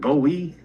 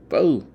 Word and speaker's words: Bowe: I think you're saying last name wrong. I think it's. I'll tell you, man. I'll tell you. But was it Bowie? No, Bowe. Okay.